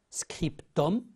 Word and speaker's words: scriptum: signature postscriptum j'ai dit attention à la prononciation scriptum c'est un texte ajouté